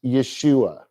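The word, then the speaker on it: ישוע: red we get y this symbol is the sh sound in English and you combine that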